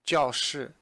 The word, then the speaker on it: 教室: Now, the thing I want to point out to you is that the word for classroom, 教室, the 教, the first character is pronounced in the fourth tone, 教室.